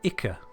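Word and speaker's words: Ichor: Next up, drown in Iicor or Ika if that's how you like to pronounce it. I feel like it's supposed to be pronounced Iicor, but that's how I was taught.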